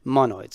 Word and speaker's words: monoid: ID so it's called mono ID and it's pronounced mono it's so what we're gonna do is we're gonna